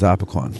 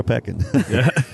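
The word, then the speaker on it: Opequon: some the local pronunciation yeah the uh correct pronunciation is opicon yeah right or opecan well what happened the the Indians have pronounced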